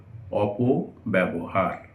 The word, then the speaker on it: অপব্যবহার: অপব্যবহার, আমরা ভুল করে অপব্যবহার মানে বকে 2 বার বা 1.5 বার উচ্চারণ করি, আসলে ব একবারই উচ্চারিত হবে অপব্যবহার।